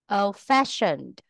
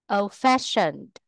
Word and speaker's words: old-fashioned: Nguyên tắc 9, tính từ ghép thường có dấu gạch ngang ở giữa, trọng âm rơi vào từ thứ hai. Bad-tempered, bad-tempered, old-fashioned, old-fashioned, one-eyed, one-eyed, well done, well done, well done, well done.